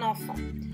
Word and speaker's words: enfant: et à la fin, la lettre T. Attention, elle est muette, mais on peut dire enfanter, donc donner naissance à un enfant. Il contient également 2 fois le son en. Le premier s'écrit EN comme dans vent et le deuxième s'écrit AN comme dans maman.